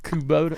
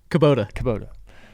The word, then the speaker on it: Kubota: Yeah, let me pronounce that properly. Kubota. How you say that? Kubota.